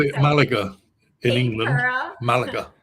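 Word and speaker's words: Málaga: You mentioned Malaysia, and I actually have never stepped foot in Malaysia. Oh, then pronounce it for me. I'm not sure where Malaga.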